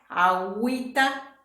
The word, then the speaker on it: agüita: desagüe antigüedad y para Wii tenemos uy no agüita bilingüismo y contigüidad bueno agüita bilingüismo contigüidad tenemos